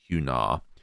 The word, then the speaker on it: Hunar: I give a pronunciation of Hunar as like lunar, or lunar, but with an R, so lunar, Hunar.